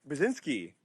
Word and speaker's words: Burzynski: Burzynski, did I pronounce that correctly?